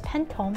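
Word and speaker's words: 팬텀: is his favorite pokemon so known as pentom in korean which basically is saying phantom but in korean pronunciation there's our secret rare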